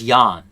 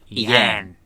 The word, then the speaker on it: Ian: So I believe his name is pronounced Ian Lenar. Oh, I thought it was Jan. No, it's a heavy A. Yeah. Ian. Ian. Yeah, it's, Ian. I think he's from the Midwest.